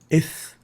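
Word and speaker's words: ث: Ith is how we pronounce the tha.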